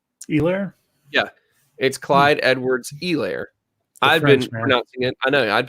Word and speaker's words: Clyde Edwards-Helaire: And here's a fun fact I learned not terribly long ago, that the H in his last name, you don't say it. Helaire? Yeah. It's Clyde Edwards-Helaire.